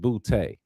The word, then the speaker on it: Boutte: I got to think that they all can, and they pronounce it Boutte, Mm-hmm. Boutte, All right. Yep. I not knew you go booty.